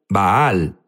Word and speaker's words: Baal: Jesús habló sobre Val unos dicen baal baal es la pronunciación correcta correcto pero sabes qué